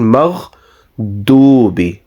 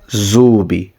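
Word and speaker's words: المغضوب: Okay, but here there is only a pesh on this, So we will pronounce this as ghayril maghdubi rather than pronouncing zubi.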